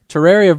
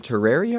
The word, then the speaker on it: Terraria: Usually, Is it Terraria or Terraria? I guess it depends on who you ask. I pronounce it Terraria. I pronounce- say Terraria. Terraria. Terraria. Okay, so I always pronounce it Terraria. I don't. Maybe there's a right way or a wrong way. I I don't think know. the official is Terraria, but I'm so used to Merlin- saying Terraria.